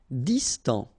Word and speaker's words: distant: Distant, final T not pronounced, distant.